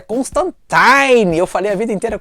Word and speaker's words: Constantine: agora na série da Netflix do sandsman a pronúncia correta é Constantine eu falei a vida inteira Constantine mas é de acordo com o new Gamer